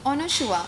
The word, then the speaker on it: Anasua: तो करण जौहर ने बोला था कि अनुशुआ.